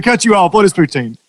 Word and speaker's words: poutine: real quick to cut you off what is poutine for tin is how it's pronounced okay yes you have to be put